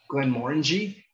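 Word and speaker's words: Glenmorangie: And just because this is a bugaboo of mine, it's not Glen Morangi we get a lot, or I don't even know how else you've heard it. You literally have the word orange in it, Glen Morangi, and it has an orangey sort of profile.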